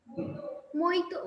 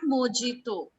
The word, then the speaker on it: mojito: So it's not mojito. J is silent over there. That is called a mojito.